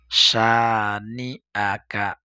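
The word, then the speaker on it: شانئك: ইন্না শানি আকা, শানি আকা। আর উচ্চারণ অনেকে অনেকে শানি আকা বলে, ইয়া না, শানিয়া নিয়া বললে ইয়া হয়ে যায়, সেজন্য এখানে আপনাকে উচ্চারণটা স্পষ্ট করতে হবে।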